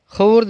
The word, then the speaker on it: خورد: واو کو حذف کریں گے، واو کو سائلنٹ رکھیں گے، واو کی آواز کو نہیں نکالیں گے۔ خورد بینی جاندار سادی